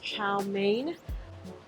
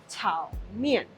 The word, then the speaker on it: chow mein: looks like it's pronounced chow mein. In Chinese, fried noodles is pronounced tao mian. So it's mian, not main.